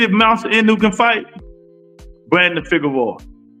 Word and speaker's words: Brandon Figueroa: Brandon Figueroa. That's how you say it.